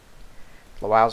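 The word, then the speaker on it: Lwów: I don't think Lutsk or Lwow have fortresses, though, so we can take... I think that's supposed to be pronounced Lvov, but I'm not gonna.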